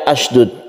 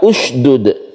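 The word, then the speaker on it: اشْدُدْ: Di mana banyak orang membacanya sebagai 'asdud'. Meskipun seharusnya dibaca dengan dammah. Jadi, seharusnya dibaca sebagai 'usydud'. Memulai pembacaan di dalam sebuah ayat atau di awal sebuah ayat memiliki aturan sederhana.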